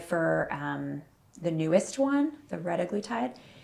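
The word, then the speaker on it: retatrutide: Then we have I don't even know how to say it, retaglutide? Retaglutide.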